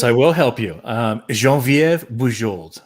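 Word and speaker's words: Geneviève: will help you um jean viv jean viva french canadian jean-viv okay there you go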